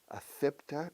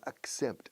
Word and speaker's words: accept: try to accept and you have to pronounce every consonant I'm sorry affecta no accept accept able accepted I